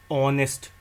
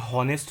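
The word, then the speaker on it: honest: ऑनेस्ट यह होनेस्ट नहीं होता है। इसको हम ऑनेस्ट पढ़ते हैं। इसमें एच साइलेंट होता है।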